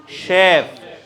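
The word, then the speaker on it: chef: তারপর next one ইজ, হ্যাঁ, chip, CHE, sorry, আপনারা কি জানেন CH দিয়ে কয়টা উচ্চারণ হয়? CH, দিস ইজ শেফ, হ্যাঁ, দিস ইজ শেফ।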